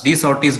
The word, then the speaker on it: De Sauty: Okay, so next we'll come to know the capacitance, de Sauty's bridge.